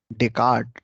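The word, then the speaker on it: Descartes: ही जब फिलॉसफर पढ़ेंगे, डेकार्ट, डेस्कार्ट लिखते हैं, एस साइलेंट होता है।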